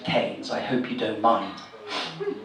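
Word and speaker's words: Kynes: excuse me young man I know it's spelled k y NES but here in the village we prefer to pronounce it canes I hope you don't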